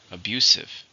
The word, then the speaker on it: abusive: an adjective how many syllables in the word abusive three stress in a second abusive he finally left his